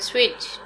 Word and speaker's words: switch: turn the switch on in this word switch t is silent word next write down